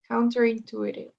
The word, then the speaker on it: counterintuitive: You don't pronounce the second T. Intuitive. Yes. Intuitive. Now again. Counterintuitive. Counter. The next word is? Intuitive. Intuitive. Yes, exactly. So it's like the second T doesn't exist. Intuitive.